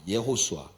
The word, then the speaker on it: 여호수아: 근데 여호수아라는 이름이 히브리어로 발음을 할 때 예호수아라 그래. 예호수아.